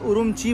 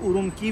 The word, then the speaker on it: Ürümqi: एंड फिलहाल हम लोग हैं उरुमची में, एंड इसको भाई उरुमची बोलते हैं चाइनीज में, अगर इंग्लिश में प्रोनाउंस करेंगे तो शायद इसको उरुमकी भी बोल सकते हो आप लोग।